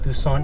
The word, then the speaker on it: Tucson: Yes, the C in Tucson is silent, so it's Tucson, not Tucson or Tucson.